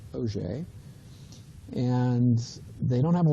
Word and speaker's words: Auger: Although it's spelled Auger, it's Auger.